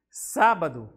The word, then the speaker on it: sábado: Depois vamos para sábado, né? E sa é a sílaba com maior intensidade sonora.